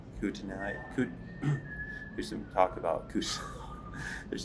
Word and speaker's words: Kootenai: Kootenai. There's some talk about there's some talk about Kootenai National Forest.